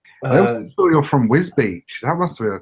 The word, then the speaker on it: Wisbech: Yeah, everyone tries to call it Whizbech. Oh, I thought Whizbeck, I assumed. Whizbeck, no, it's Whiz Beach.